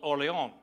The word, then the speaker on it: Orléans: For example, in France, there's a city called Orléans. And when the French came to the New World, they created a new city called New Orléans. But nobody pronounces it that way. We call it New Orleans or New Orleans. And if you're from that area, they might call it Nolens. But basically, you have one city, and there's four different ways to pronounce it.